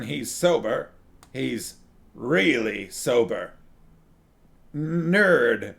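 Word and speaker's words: knurd: sober he's really sober nerd they call it k-n-u-r-d maybe i should pronounce the k nerd you know how you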